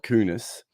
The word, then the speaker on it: Cunis: The famous New Zealand name, of course, is Bob Kunis, who is described as neither one thing nor the other. It's spelled Cunis.